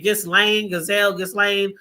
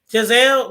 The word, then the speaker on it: Ghislaine: And I know I always say her name, Ghislaine, the notorious, the PD, the pedophile, Jeffrey Epstein. Giselle, why I keep calling her Giselle? Her name is Ghislaine. I think that's how you say it, Ghislaine.